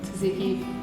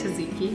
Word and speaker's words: tzatziki: Tzatziki fish tacos?